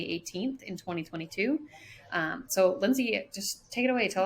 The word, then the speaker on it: Lindsay: get creative with my name so it's actually pronounced lindsay but call me call me it's